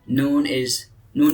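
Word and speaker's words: نون: So Noon is look like, and also a pronunciation also sound is look like moon, noon. So after just replace N.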